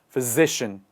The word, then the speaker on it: physician: here is in the middle of the word physician let's do all of it together one more